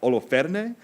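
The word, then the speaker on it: Holofernes: general's name rather is halophenes i had a conversation last night with the priest about exactly how to say this name in greek it would probably be something like oloferne but we're not it's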